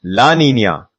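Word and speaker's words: La Niña: Conversely, Lanina pronounced Laninia events typically bring about a global cooling effect.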